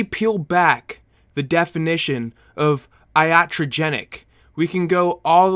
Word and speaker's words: iatrogenic: into it it is how not to die from idiogeneric that's not how you pronounce it I'm sorry for butchering that it's pronounced iatrogenic that word iotrogenic and I